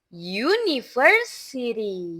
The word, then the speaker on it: university: Ayo cara mengucapkannya, pronunciation-nya university. University uni yu yu seperti Y ya, seperti huruf Y atau Y.